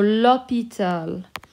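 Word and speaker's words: l'hôpital: that we have now because of the silent h which is treated like a vowel we make it l apostrophe but it is still a masculine word so lopital okay so that's just showing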